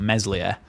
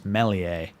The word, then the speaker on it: Meslier: where we've always known it's been a silent s he's meler he Fringe it's not meslier I heard I've been